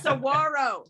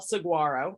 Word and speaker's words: saguaro: a 27 foot tall saguaro or saguaro i think is how you say it and didn't even finish